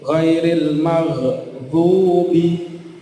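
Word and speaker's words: غير المغضوب: Nah, seperti di surat Al-Fatihah itu ghairil maghdubi, nah, gha itu bukan qalqalah. Maka diusahakan sebisa mungkin untuk ditahan, tidak dipantulkan.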